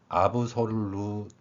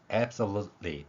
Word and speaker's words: absolutely: 표현 방법을 그대로 적용한다면 아브솔루텔리 이렇게 발음한다고 생각할 수 있을 것입니다. 그러면 아브솔루테빌리가 아니라 이 발음은 실제 소리에서 absolutely 이렇게 발음이 됩니다.